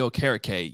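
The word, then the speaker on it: Okereke: that no man here but if you thinking carrot cake as you say Bobby o'kara K you will you will always pronounce it correctly just a tip and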